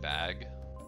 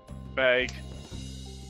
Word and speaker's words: bag: part of the Wisconsin dialect is how we say bag he also bag bag like a bagel bad eagle say it